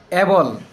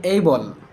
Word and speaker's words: able: তবে এটা বিদেশীরা যেভাবে উচ্চারণ করে এডুকেশন। এডুকেশন। আমরা বলি এবল। আসলে এটা এবল না। এটা হবে এই। এই আই উইলবি এইবল।